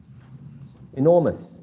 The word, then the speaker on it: enormous: syllable has this sorry this word has three syllables and that can be syllabified or separated right into e nor mus so in between